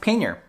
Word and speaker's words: pannier: can look it up on YouTube itself it's pronounced pannier so I'm sticking with that so these are